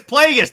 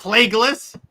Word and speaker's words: Plagueis: The name is Plagueis, not Plagueis. It's pretty clear that Darth Screw You Jared. Use the proper pronunciation, you nerd.